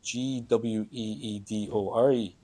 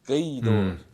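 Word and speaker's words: Gaoth Dobhair: It's spelled Gweedore, and that's Gweedore, but like it's Gaydor. Gay like for the wind. It's Gaoth, but you need to use your throat to say it.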